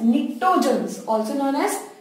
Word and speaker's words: pnictogens: Group 15, nitrogen family, also known as pnictogens, P is silent here.